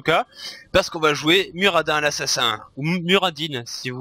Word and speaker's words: Muradin: En principe il faut prononcer Muradin parce qu'il le dit, il s'appelle lui-même, enfin quand il parle de lui-même il dit Muradin, mais moi je trouve que Muradin, enfin j'ai plus l'habitude de dire Muradin, puis Muradin ça rime avec assassin, donc voilà.